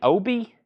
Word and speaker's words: obi: Are you mean Obi?